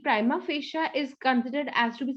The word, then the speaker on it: prima facie: so that is the prima facia okay i tried to remember prime face you okay so there is